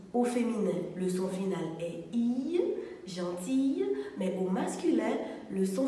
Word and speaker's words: gentil: y une femme gentille mais lorsqu'il est au masculin il s'écrit gentilly-2 son final est ici il se dit gentil un homme gentil au féminin le longines altaïr gentille mais au masculin le